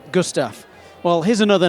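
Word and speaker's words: Gustav: One of the first names in hydraulic brakes, Mora, last year released its newer downhill model, which I mispronounced as the Gusta when actually it's Gustaf.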